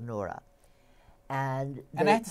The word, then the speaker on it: Noura: Not Nora, but Noura.